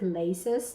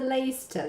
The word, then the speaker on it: Leicester: For example, we have something that is spelled that should have been read like Leicester Square because we've got this CE right here, but no, it's called the Leicester Square.